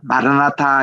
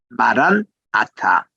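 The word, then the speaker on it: 마란 아타: 아싸 주님이라는 것이에요 그래서 마라나타라는 말보다는 말한 아타 이것이 정확한 발음이 되겠습니다 우리 지난번에도 우리 베들레헴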